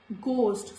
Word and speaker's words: ghost: Ghost, not ghost, this is ghost.